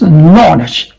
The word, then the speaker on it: knowledge: And this is not knowledge. This is knowledge. Oh, this vowel sound is o, okay? O. No, but there's no K sound here because they are silent sounds of the K here.